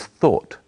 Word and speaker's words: thought: The past tense of think is thought. It's spelled in a strange way, but it's easy to say.